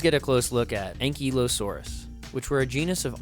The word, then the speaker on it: Ankylosaurus: We just get a close look at Ankylosaurus, which were a genus of armored dinosaur.